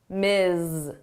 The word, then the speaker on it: Ms: Miss Ms. So here it's the the unvoiced and the voiced sound.